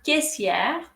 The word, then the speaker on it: caissière: সো এখানে এ আর আই এর উচ্চারণ হবে এ, আর এর পরে আই ই আর এর উচ্চারণ হবে শুধুই ইয়ে। আরটা আমরা উচ্চারণ করব না যখন ম্যাসকুলিন হবে, আর যখন ফেমিনিন হবে তখন আমরা উচ্চারণ করব। সো এটা হবে কেসিয়ে যখন পুলিঙ্গ, আর কেসিয়ার যখন স্ত্রীলিঙ্গ।